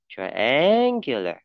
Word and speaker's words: triangular: To put triangular, to create, okay, to create, nghe mà này, create, to triangular, triangular, hose, đây, và nữa đây, hose on, the